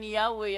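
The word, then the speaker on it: Yahweh: Translation February 9, 1950 while inclining to view the pronunciation Yahwe as the more correct way we have retained the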